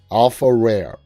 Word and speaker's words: AlfaRare: It's spelled ALFARARE. Alpha Rare. All one word.